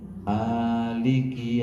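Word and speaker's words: مالك: Ini cara bacanya dua, Bapak Ibu. Ada dua cara. Ini cara pertama mimnya dibaca panjang. Ada alifnya maik Maliki yaumiddin.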